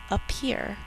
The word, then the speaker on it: appear: to spell er again two p's are sounded in spelling one in norm we only hear one in normal speech spell out loud up